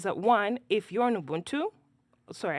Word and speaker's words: Ubuntu: one if you're in Ubuntu sorry I should correct it because otherwise God has someone will call me Ubuntu that's the correct pronunciation um it will notice